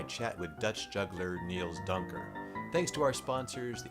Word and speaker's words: Duinker: Is the last name pronounced Duinker? Duinker, yes.